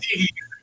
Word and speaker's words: Seger: Bob Pronounced Seger.